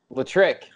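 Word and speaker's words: L'Trick: say their name, but it's spelled L apostrophe trick. Like electric. Yes, I saw you shared it. Damon. Yes. Yeah. Latrick, yes. And Latrick is actually a really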